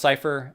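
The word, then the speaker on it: Xipher: matt bunky zyphers uh x i p h e r so cypher design uh or cipher oh is it pronounced cipher okay sorry um but yeah so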